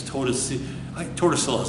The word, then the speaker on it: Tordesillas: Treaty of Tordesillas, it's my Spanish students will always make fun of me because I don't pronounce it correct. It's Tordesillas, that's why I pronounce it.